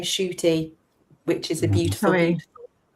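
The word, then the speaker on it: Ncuti: Only he pronounces his name Shooty, which is a beautiful What did I say?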